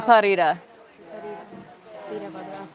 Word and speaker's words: Viparita Virabhadrasana: How do you pronounce this one? Viparita Virabhadrasana.